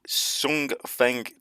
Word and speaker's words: Hsiung Feng: So this is the Hsiung Feng 2 missile from Taiwan. I think I pronounced that right. I think the H is silent in the title.